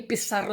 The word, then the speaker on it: Pissarro: Se escribe Pissarro porque en realidad es Pizarro, porque hay un seseo, es un apellido español sefardí.